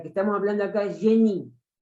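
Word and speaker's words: Genie: Y la idea de genio de la que estamos hablando acá es génie, se pronuncia así, debe ser por influencia francesa, se escribe G-E-N-I-E.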